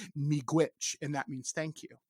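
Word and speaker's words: miigwech: quite get it but you were close it's pronounced me glitch and that means thank you which and and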